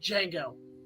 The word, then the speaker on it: Django: It's like, Django. How do you spell it? D-J-A-N-G-O. The D is silent.